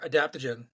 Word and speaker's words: adaptogen: So you threw out a word there, adaptogen.